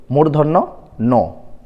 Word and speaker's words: মূর্ধন্য ন: এটির সঠিক উচ্চারণ হলো মূর্ধন্য ন।